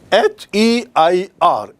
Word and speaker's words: heir: The spelling of the word हेयर means H-A-I-R, hair, and here the spelling is H-E-I-R, heir, and this means उत्तराधिकारी।